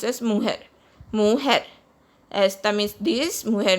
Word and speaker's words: mujer: Esta mujer, J is pronounced as hota in Spanish, so it is pronounced as mujer.